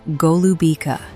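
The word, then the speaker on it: голубика: This fruit is called golubica, pronounced golubica.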